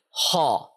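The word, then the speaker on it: ح: this one is ho, it is one extreme, and this one is kha, another extreme, and in between is the letter ha, khaw, ha. Ha. Yeah, so this is the sound which we are seeking. This is the sound which we like. Ha. It is neither ho nor ha. There are many people who say it like this, but they are wrong.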